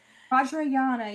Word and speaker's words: Vajrayana: So, which is what apparently was studying this weird Vajrayana. Is that how you pronounce it? Yeah. Vajrayana, yeah.